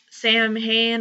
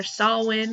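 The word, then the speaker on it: Samhain: ones that I have done so far is Sam Han or sawin however you want to pronounce it but it's Halloween and that's my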